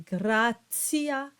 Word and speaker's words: gratia: Either the hard T, as in sunt or terra, or the TS sound when you have the T that is followed by an I and usually an A or an O, and you get the T sound, the TS sound, as in gratia and pontio.